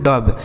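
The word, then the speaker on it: dove: डी ओ वी ई इसे पढ़ेंगे दोस्तों डब। डी ओ से ड और वी ई से ब डब।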